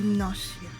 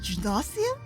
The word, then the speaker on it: Gnosia: Like, the way I usually hear it is that the G is pronounced, but it's soft. Ah. What? Wait, so it's gnosia?